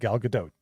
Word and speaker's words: Gadot: attention like how do you say it like Gadot okay got it like this finally put it